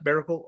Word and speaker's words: Maracle: So, your last name is Miracle. Is that how you pronounce it? Almost like Miracle, but Miracle.